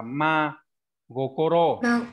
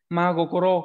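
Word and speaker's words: 真心: đọc là gì nào Cái này các bạn đọc là sin sin hay gì đấy sai hết nhá cái này đọc là ma goro được chưa Ừ magokoro có thể là đi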